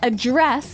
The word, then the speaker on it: address: it differently the verb address has the stre the stress on the second syllable okay address yes and